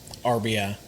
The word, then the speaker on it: RBI: RBI. RBI, yes. Yeah, there's no S on that.